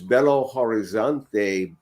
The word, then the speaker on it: Belo Horizonte: happened fatty is is from bh which is belo horizonte brazil did i pronounce that right or even close yeah yes